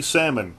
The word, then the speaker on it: Salmon: is the story of Susie salmon she says pronounce it like the fish a 14-year-old girl murdered